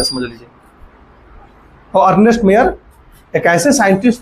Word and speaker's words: Mayr: Page number 3, Ernest मेयर, very important scientist. Page number 3, spelling बोलिएगा तो ER है ना, ER, अर्नेस्ट, MAYR ना।